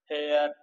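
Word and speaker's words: heir: यर का उत्तराधिकारी उत्तराधिकारी इसमें जो एच है वो क्या है साइलेंट है एच है वो साइलेंट है और इसकी जो साउंड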